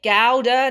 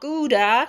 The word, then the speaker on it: Gouda: a smooth smoked gowda everybody say it with me gowda not gouda i've been to gowda in france and that's how they say it but anyway not going